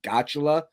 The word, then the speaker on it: Gottula: I'm not sure how to pronounce his last name. Is it Gotula or Godula? It's Gottula.